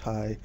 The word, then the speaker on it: Heye: Smithsonian George Gustav hi it's spelled heyee but pronounced hi he was an investment banker in the early